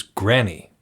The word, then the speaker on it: Grani: The first is Granny. That's what his name is spelled Grani. Granny? Granny? We're going to go with Granny because it sounds a little bit less like Granny.